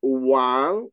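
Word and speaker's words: 王: the uh the Chinese character just bide is pronounced Wang w a n g and it means king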